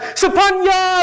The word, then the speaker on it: Sophornaya: The PH in my name is pronounced more like a P than the F sound.